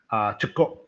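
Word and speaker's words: cekur: We call it cekor. Cekok. We pronounce it cekok.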